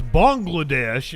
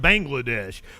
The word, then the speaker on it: Bangladesh: weekend of violent okay apparently I've been saying it wrong it's Bangladesh and not Bangladesh which Bangladesh [ __